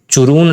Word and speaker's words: Churun: Angel fall जो है वो चुरून रिवर, चुरून CHURUN होता है इसका प्रोनाउंसिएशन, तो चुरून रिवर पे प्रेजेंट है, तो इसका जो राइट आंसर होगा ये मेरा चुरून होगा।